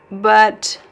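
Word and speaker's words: bem: M is not pronounced.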